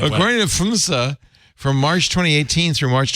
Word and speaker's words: PHMSA: PHMSA. And he knows how to pronounce things, so we know that's the right way. According to PHMSA, from March 2018 through March 2023, 5 years,